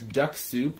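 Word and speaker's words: Dux-Soup: Yummy for most beginners Duck Soup is generally a really easy way to do it spell d u x o u s o u p one sec yeah it's spelled d-u-x-s-o-u-p is what I would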